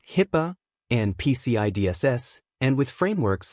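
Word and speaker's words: HIPAA: It means tracking compliance with regulations like GDPR, HIPPA, pronounced HIPPA, and PCIDSS, and with frameworks like ISO27001 and NIST.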